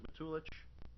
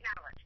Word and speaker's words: Matulich: Is it Matulich? It's Madelich, but that's okay.